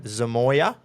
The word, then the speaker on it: Zamoya: We bought a written tycoon by Pippa Charlotte Colt, and we named him Zamoya. That's how you say it, in case you were wondering.